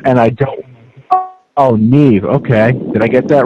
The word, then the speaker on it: Niamh: I'm afraid I can't pronounce her name yet. I've never seen it before. Niamh. And I don't... Oh, Niamh.